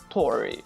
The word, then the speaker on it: torg: All right, torg is written torg, but it's pronounced tori, depending on how or where you are in Sweden, right?